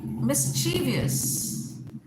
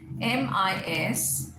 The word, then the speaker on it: mischievous: Okay, say mischievous, MISCHIEVOUS, mischievous is incorrect. What's the correct pronunciation? Mischievous, mischievous. He is so mischievous that